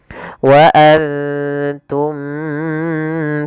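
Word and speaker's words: وأنتم: Cara membacanya yaitu kita samarkan ke ta, dan ta hurufnya tipis, jangan antum, tapi dia wa antum.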